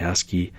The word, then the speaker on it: ASCII: It's just pronounced ASCII.